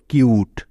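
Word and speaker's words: cute: তারপরে টি আছে, যার জন্য নিয়ে নিলাম ট, এবং সবশেষে ই আছে, তাই ইটা এখানে সাইলেন্ট থাকবে। তার মানে ই এর কোনো উচ্চারণ হবে না এখানে। তাহলে ক যোগ ইউ যোগ ট মিলে হলো কিউট।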